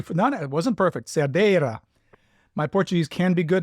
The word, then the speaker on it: Cerdeira: Ah, thank you for, no, it wasn't perfect, Cerdeira. My Portuguese can be good if I'm reminded correctly. Cerdeira of Soalheiro, again, pronunciation probably not perfect, Soalheiro of the Minho region of northern Portugal.